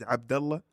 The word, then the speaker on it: Abdallah: See, you For me, I don't get frustrated about it, but like it's actual pronunciation is Abdallah. And for some reason, the ah is a problem for people. Abdallah?